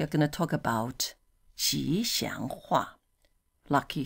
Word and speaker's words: 吉: Although it's 吉, not 橘, but we sort of... You mispronounce it a few times, you get that.